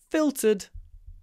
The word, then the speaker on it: filtered: elegant the next one filtered the water is filtered before being released into the river filtered another LT like in consultant try to get this not fil filtered fil filtered filed filtered